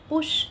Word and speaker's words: push: Again here you, पुश, यहाँ पे यू का प्रोनाउंसिएशन ऊ की तरह और यहाँ पे अ की तरह, पुश, रश, सक।